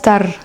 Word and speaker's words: tardes: Donc, ce qu'il faut savoir, c'est qu'en espagnol, le R, du coup, il est comme sous la langue. Buenas tardes.